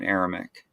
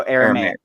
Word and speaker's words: Aramaic: of Old Testament are originally aramic no Aramaic Aramaic yes yes you're right I said it wrong so um let's see